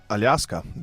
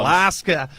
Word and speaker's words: Alaska: Aljaska, because that's how we say it. That's how you say it in Slovenian. Yeah, Aljaska. Can you just not conform to the English pronunciation just once? Alaska.